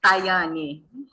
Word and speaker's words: Tayane: Por favor, e o meu é Tayane, mas não há problema, não tem problema.